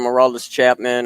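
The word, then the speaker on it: Aroldis Chapman: Would you rather take a pitch from Hurrdat Chapman or a punch from Mike Tyson to the ribs?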